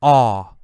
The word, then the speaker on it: awe: wow amazing incredible Wow that feeling we call awe awe and the word awesome comes from this